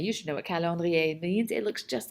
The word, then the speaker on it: calendrier: Anyway, okay, so let's go over the pronunciation of this vocabulary. We have the word calendrier. Calendrier. You should know what calendrier means.